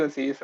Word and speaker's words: Aziz: can you introduce yourself to everybody uh your pronouncing is correct it's a cease only so my name is aziz and i'm a software developer um i'm working